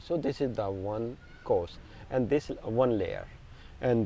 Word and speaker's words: kosha: N and I'm saying kosher but the correct pronunciation is course of course because you don't pronounce the last a we're just learning this